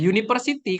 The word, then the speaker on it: university: Jadi di depannya ini ada Y.